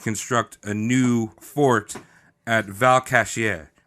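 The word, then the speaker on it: Valcartier: a new Fort at Val kashier which I looked up and that's how you say it it's Val Cartier Val kashier yeah you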